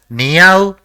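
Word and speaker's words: にあう: The first character in the word is ni, the second is a, and the third is u. So, it will be pronounced as niau, which is actually the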